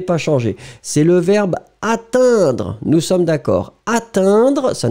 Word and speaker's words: atteindre: Et atteindre, on prononce de la même façon, non monsieur. Prenons une minute Sundar, relaxons-nous, concentrons-nous. Vous m'avez écrit attendre, E-N. Écoutez le son.